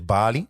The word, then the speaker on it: Bali: the local dialect cuz you keep keep saying Bali sort of like Bali. It's Bali. Is that how they pronounce it locally?